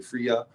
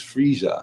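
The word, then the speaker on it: Freyja: Some people say Fria but it's it's a J sound. Frieza but that's where Friday comes from. It's Frieia.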